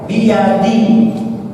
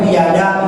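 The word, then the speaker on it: بيدي: Biyadi. Kan tidak boleh biyada, biyadu. Bacanya biyadi, ya kan?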